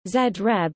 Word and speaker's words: Zagreb: Zagreb, Croatian pronunciation, Zreb, listen, is the capital and the largest city of Croatia.